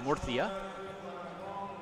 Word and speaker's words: Murcia: arena here in murcia spain or as the locals say murcia located on the uh near the coast of